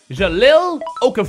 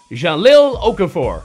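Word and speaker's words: Jahlil Okafor: and that's somebody is going to be Mr Jalil okaf for 75 overall from the struggling 76ers he is a center Jalil Okafor I think I said it right that time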